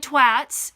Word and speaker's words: twat: It's pronounced twat, not twat.